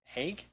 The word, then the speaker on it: Haig: Lori Moller for City Hall entrance, and, is it Haig? Haig, Okay. yes. Okay, I just want to make sure I pronounce it correctly.